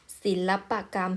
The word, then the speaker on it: ศิลปกรรม: ประวิสรรชนีย์ โดย นะ คะ พยางค์ ตรง กลาง เนี่ย จะ เป็น คำ สมาส แม้ จะ ออก เสียง อะ ก็ จะ ไม่ ประวิสรรชนีย์ ศิลปกรรม เห็น ไหม คะ ศิลปกรรม ถึง จะ ออก เสียง เหมือน มี สระ อะ นะ คะ แต่ ว่า มี รูป สระ อะ ไหม คะ ไม่ มี เรียก ว่า ไม่ ประวิสรรชนีย์ นะ คะ ธนบัตร สอง คำ